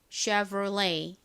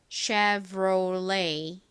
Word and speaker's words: Chevrolet: 프랑스식으로 읽으면 이 et 부분이 a 발음이 됩니다. 그래서 Chevrolet 이렇게 발음이 돼요. 쉐보레랑 비슷한 듯한데 살짝 다르죠. 미국식 발음으로 한번 같이 연습해 볼까요? 쉐보레는 따라해 보세요. Chevrolet.